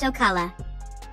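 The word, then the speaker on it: Ocale: about a province in florida called o'kale pronounced ocala mayan glyphs at crystal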